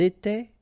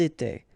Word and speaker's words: étaient: étions, vous étiez, ils étaient, elles étaient. Alright, so exactly the same rule. Remember, final S, here, here, final T, and then here, E-N-T. You don't pronounce them.